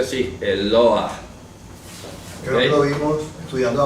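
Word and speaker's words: אלוה: Eloah. Se pronuncia así, Eloah.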